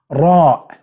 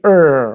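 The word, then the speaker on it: راء: English, it's going to be er, which is not correct. You have to roll your mouth. Ra. Ra. Not ra. Ra. Ra. Okay? And you can find it in the word rab.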